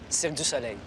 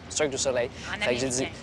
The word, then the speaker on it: Cirque du Soleil: donne pas c'est biling c'est C du soleil parce que c'est cette façonl que les Anglais prononcent CIRC du soleil CIRC du soleil en américain alors je me suis